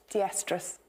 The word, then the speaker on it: diestrus: And it's pronounced... Diestrus.